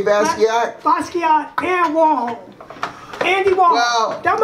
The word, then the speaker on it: Basquiat: Basquiat and Warhol.